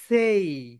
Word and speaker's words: say: রং pronunciation করি, আমরা বলি সে, সে, সে, সে। আই সে, আই সে, রং। বলো কি হবে? সেই।